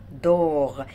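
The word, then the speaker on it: dort: دور ايل دور ينام، هو ينام. إيل شرحناها قبل كده. دور الت في الآخر مش هتتنطق.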